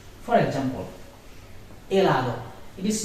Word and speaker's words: helado: It will never be pronounced, but it may exist in the word. For example, helado. It is not helado, it is helado.